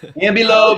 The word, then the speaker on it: Ambilobe: And so I currently have a female ambelobe. How do I pronounce it, Bill? Ambilobe. Okay, there we go.